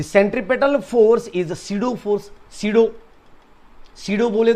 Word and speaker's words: pseudo: यानी कि this P इज the silent है, सीडो फोर्स है।